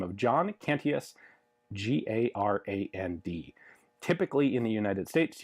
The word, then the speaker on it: Garand: name of John cantius g-a-r-a-n-d typically in the United States you will hear this referred to as a grand however I always refer to it as a Garand and there's a reason for that questions come up as